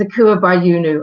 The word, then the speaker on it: Akua Bayunu: It's Akua Bayunu. I'm just going to start saying this is how you pronounce the name, so there we go.